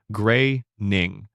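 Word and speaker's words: Groening: Matt Graing kept his last name's pronunciation deliberately ambiguous for years before eventually confirming it is pronounced gray ning, rhyming with raining.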